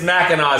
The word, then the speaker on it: Mackinac: so we see from michigan mackinac but it's mackinac how they say it yeah okay okay good